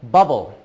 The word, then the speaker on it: bubble: one I thought of bubble b u b b l e that's six letters but B uhb again only four sounds bubble the two B's make one sound and the e at the end is silent sometimes you're going to